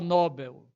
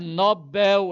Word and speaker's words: Nobel: A pronúncia occita, Nobel. Aluno meu não vai pronunciar Nobel. É Nobel, é oxítona.